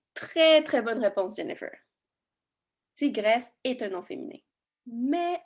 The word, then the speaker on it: tigresse: On ne dit pas tigressé, on dit tigresse. Le dernier E est muet. Tout comme le mot vitesse ou maladresse.